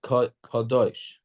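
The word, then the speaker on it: קָדוֹשׁ: It's written, it's spelled Kodesh, right? But we read it as Kadosh.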